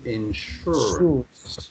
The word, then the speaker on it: insurance: have the insurance insurance be careful how you pronounce that word it's sure insurance that's right insurance you